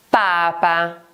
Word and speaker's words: Papa: Papa. Papa. Si scrive con una sola P.